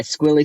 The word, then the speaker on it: Squiggly: uh i go by squilly rhymes with strictly business spelled s-q-u-i-g-g-l-y but the g's are silent which is going to